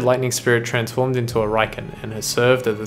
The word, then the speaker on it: Raiken: Raiken, pronounced Raiken.